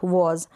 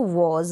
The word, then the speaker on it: was: इसको वर प्रोनाउंस करें, वेयर ना प्रोनाउंस करें, इसको वॉज, वाज नहीं, वॉज, वॉज और वर।